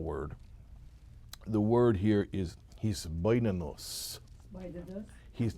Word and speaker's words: hisbonenus: Hitbonenut is the noun, or I pronounce it hisbonenus.